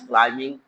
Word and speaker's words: climbing: In silent letters, Sana is climbing the mountain. Climbing, B is silent.